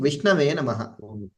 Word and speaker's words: Vishnave Namaha: One was chanting Vishnave Namaha. That is the right way of pronunciation.